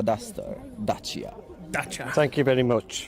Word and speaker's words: Dacia: Right, I am with someone from Romania who will now tell us how you correctly pronounce Dacia. It's Dacia Duster. Dacia.